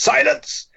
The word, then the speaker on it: Silence!: Our podcast is called Silence with an exclamation mark, so it's pronounced Silence.